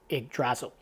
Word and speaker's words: Yggdrasil: I believe it's pronounced Yggdrasil.